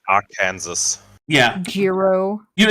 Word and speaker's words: Arkansas: it's pronounced Arkansas. Yeah, Gyro. you know it's actually illegal in Arkansas to say it Arkansas.